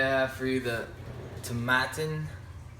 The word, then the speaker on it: Tomatin: have for you the tattin rhymes with satin like it says on the back of the box 14-year-old Portwood finish um